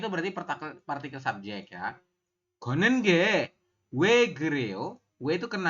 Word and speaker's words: 걷는: Gonen, ini dibacanya bukan Gotnen tapi Gonen ya.